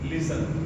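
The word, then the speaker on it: listen: या टी एल ई अगर ये ग्रुप हमें देखने को मिलता है किसी शब्द के अंत में तो टी हमारा इसमें क्या रहता है? साइलेंट रहता है। इसके एग्जांपल देखिए। एल आई एस टी इ एन लिसन एफ ए एस टी ई एन फासन इसमें टी हमारा क्या रहेगा? साइलेंट रहेगा।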